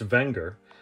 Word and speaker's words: Wenger: could always fix those look at that the wenger alpine man that's a gorgeous watch all right let's watch this quick video technically pronounced wenger the company dates back to the late 1800s